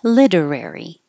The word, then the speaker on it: literary: particular in particular literary the T changes to a d literary which is very similar to literally literally which